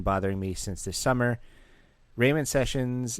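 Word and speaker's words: Ramon Sessions: me since this summer Rayman sessions name is pronounced Rayman sessions like a Jamaican guy saying man oh raymon Raymond sessions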